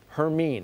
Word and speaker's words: Hermine: Hermine, that's how it's pronounced.